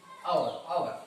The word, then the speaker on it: hour: It is not hour, it is our. R sound is pronounced there.